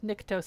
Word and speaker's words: Nyctos: Nyctos. It looked like fructose. So I'm like, Nyctos.